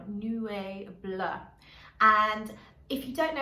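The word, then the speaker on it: Nuée Bleue: So it's spelled N-U-E-E and then Bleu as in Bleu de Chanel, Nuee Bleue.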